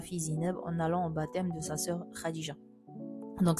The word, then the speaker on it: baptême: Attention pour le P, ça se prononce pas. On dit pas baptême, on dit baptême.